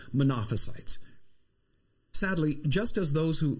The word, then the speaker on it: Monophysite: nature now it's pron usually pronounced as monophysite sadly just as those